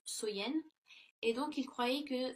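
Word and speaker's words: Samhain: nuit de l'année donc était samen donc qui est prononcé qui se prononce Soyenne.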